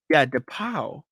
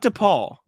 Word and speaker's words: DePauw: I'm questioning because DePauw, not DePaul, DePauw, DEPAUW.